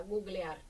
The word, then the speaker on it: googlear: En el caso de googlear, pues habría que escribirlo con u porque porque hay mucha gente que ya, o sea, que que mantiene la pronunciación de Google y entonces pues ya hice ahí una propuesta, googlear. Mm.